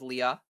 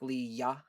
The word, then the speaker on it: Leah: a little bit of a unnecessary emphasis on the the second half of the name. It's just Leah. Leah Leah, you know, not like Leya.